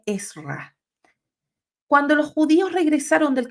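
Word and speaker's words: עזרא: llama la atención que no es Esdras es más bien esra cuando los judíos regresaron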